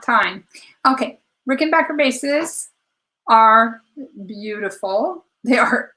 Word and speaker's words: Rickenbacker: do you think of Rickon back her faces and I have confirmed with the company that that is the proper pronunciation um I think pretty time oh no not time okay Rickenbacker bases are beautiful they